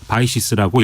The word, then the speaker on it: BICES: 수집 활용 체계라는게 있는데요 영어 약제로 bices 바이시스라고 읽습니다 여기에 참여를 해서 한국하고